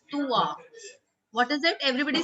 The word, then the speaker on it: toi: Students often make a mistake by saying toy. It's toi. What is it? Everybody say Tua.